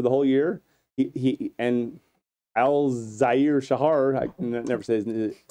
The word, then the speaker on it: Al-Shaair: And Al-Shaair Shahar, It's Al-Shaair.